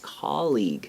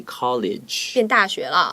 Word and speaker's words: colleague: that you can use for a co-worker is colleague a c-o-l-l-e-a-g u e okay but do not say college right because i have a lot of friends